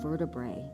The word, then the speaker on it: vertebrae: It opens up space in between our spine vertebrae. That's fancy. You're learning so much, kids. Vertebrae. Vertebrae. 3 syllables.